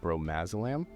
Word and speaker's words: bromazolam: Off camera, we were talking about a different drug, bromazolam. Is that how you pronounce that? Yeah. So what exactly is that?